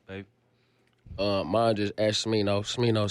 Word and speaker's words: Smino: Smino spelled like Nino, but with a sm.